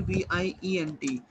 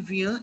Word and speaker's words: vient: Il, over here VIENT. अब देखो यहाँ पे SST कहीं भी प्रोनाउंस नहीं हो रहा।